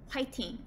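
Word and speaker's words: 화이팅: heard me correctly fighting it's pronounced like waiting but with an h in the front so it's pronounced whiten it's an expression of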